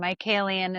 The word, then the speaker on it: Michaelian: My name is with 2 T's, and Michaelian is the last name spelled like Michael and Ian.